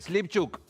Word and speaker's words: Slyvchuk: Bueno, pronuncié bien Slipchuk.